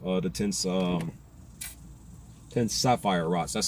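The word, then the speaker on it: Sephirot: So told you my opinion on the serif uh the tense um tense sapphire rots. That's how you pronounce it properly. Sapphire rots.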